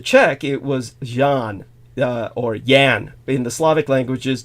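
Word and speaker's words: Jan: it was Jean or Yan in the Slavic languages Jay pronounced like a y so it would be yan yan J aan Yan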